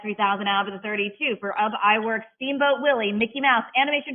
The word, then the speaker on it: Ub Iwerks: How do you pronounce that name, Jim? I forgot to ask you. Ub Iwerks.